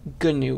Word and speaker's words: GNU: but they were like now we're going to call it gnu with the hard g and it stands for